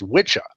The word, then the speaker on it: wicca: actually in Old English is pronounced Witcher but hardly anybody says it that way today because it just confuses